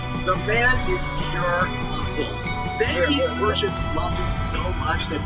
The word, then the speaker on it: Zangief: Well, actually, his name is pronounced Zangief, but I've been calling him the Geef since I was 6 years old, and it's really hard to break that habit, okay?